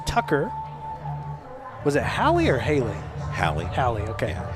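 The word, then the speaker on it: Hali: central picture hie Tucker was it hie or Haley hiy hiy okay yeah hie yeah h a l i so it's it there's sometimes there's some different pronunciations and you know the as a PA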